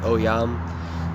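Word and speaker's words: Ogham: So I think it's very necessary to uh recap the OAM and that is for one starting with the pronunciation that is pronounced Oyam.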